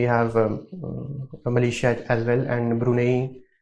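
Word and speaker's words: Brunei: Malaysia as well and brune how do you pronounce it's brune how do you pronounce brune that's how it is spelled okay so how would you pronounce it Brun okay it's brunai Brun huh this is very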